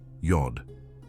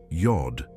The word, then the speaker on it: Yod: The first letter, Yod, has a well-defined sound, pronounced like the Y in yes.